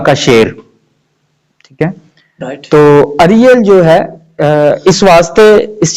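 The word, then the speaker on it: Ariel: کہ سر آپ نے ایریل نام رکھا ہے تو اس کا کیا مطلب ہے اس کا؟ جی پاسٹر, فرسٹ آف آل یہ سپیلنگ وہی ہے لیکن یہ لفظ ایریل نہیں ہے, لفظ اریل ہے.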